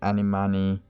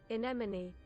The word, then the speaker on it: anemone: I know I butchered that animani that animani word, and I'm sorry about that word. But I do enjoy the story. I'm doing this let me just give it 3 times pronunciation. Anemone.